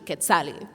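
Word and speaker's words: Quetzalli: give me the name of Kali let me spell that for you q u e t z a l l i k Kali now I love my name I really do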